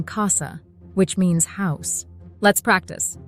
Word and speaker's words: casa: famous Italian greeting but if C is followed by any other vowel a o or U it sounds like a hard K as in Casa which means house let's